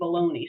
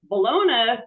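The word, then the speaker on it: bologna: why don't they make baloney Square I haven't found the answer to that but um balona comes from balona Italy so why do we pronounce it like phony or pepperoni they think it's a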